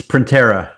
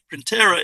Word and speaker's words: Printera: Printer as in a print then a printer and a on the N. How do you pronounce that Justin? It's Printer.